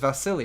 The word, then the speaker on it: Vasily: okay okay what's up is it vassily or is it vassilage i don't know how to pronounce her name it's vasily right someone corrected me on that recently and i just want